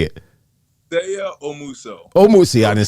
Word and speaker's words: Seigha Omuso: Seigha Omuso.